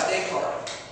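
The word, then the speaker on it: Descartes: rationalism would kick in okay let's talk about dayart it's spelled Renee Dardis it's not a girl it's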